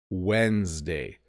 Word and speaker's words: Wednesday: a weird one because the order of the the D and the N get flipped when you say it I say Wednesday Wednesday it's w DN but I pronounce it like it's w n d Wednesday Tuesday Wednesday Monday